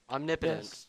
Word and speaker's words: omnipotence: do you believe in the christian omnipotent god omnipotence that's how you pronounce it all right all right i i'll